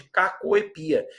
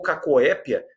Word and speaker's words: cacoepia: E agora a gente já muda o departamento, olha lá, vamos para problemas de cacoepia, ou cacoépia, também aí mais um exemplo de palavra de dupla prosódia ou pronúncia optativa.